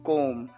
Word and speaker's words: comb: बाल बना लो, कोम the hair, COMB कोम। इसकी प्रोनाउंसिएशन होती है कोम, यहां पर बी साइलेंट होता है।